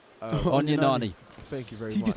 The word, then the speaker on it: Onyenani: Poor pronunciation. Onyenani.